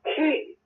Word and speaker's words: ke: I recently learned about yet another one, key, K-E, key, rhymes with E.